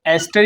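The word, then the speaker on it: ester: Student इसको एस्टर ही पढ़ना है। ईस्टर नहीं पढ़ना है। इसका प्रोनाउंस यही होता है। करेक्ट बिल्कुल एस्टर।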